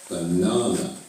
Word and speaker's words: banana: you just saw banana do you remember where the stress is it's on the second Sy banana what makes the stressed